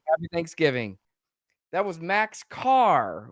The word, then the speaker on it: Kaehr: Thanksgiving that was Max Carr we found out it is pronounced car K AE HR pronounced car down there uh thanks so